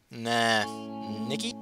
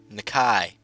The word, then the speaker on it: Nakai: You must be Nikki? Nakai.